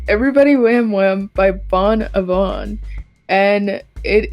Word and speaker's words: Everybody Wham Wham: the house we've got everybody wambon why did I say it like that everybody wham wham by Bon Avon and